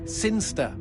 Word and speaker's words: Sinister: It's pronounced Sinster.